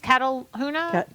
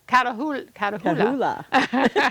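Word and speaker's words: Catahoula: So you think she's Cataluna? Could I say it wrong? Cataluna? Catahula.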